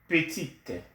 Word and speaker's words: petite: Petit, petite, you add the E, and then you pronounce the T.